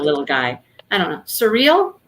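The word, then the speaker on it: Suriel: guy i don't know surreal is that what it was karen yeah but it's spelled thank you r i e l like cereal yeah and that person or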